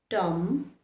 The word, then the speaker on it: dumb: For example, in words like climb, dumb, plum, thumb, plumber, dumber, the letter B remains silent.